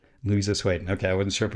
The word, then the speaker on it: Louisa Swaden: Actually, I'll have you pronounce your name because I don't want to mispronounce it. Louisa Swaden. Louisa Swaden.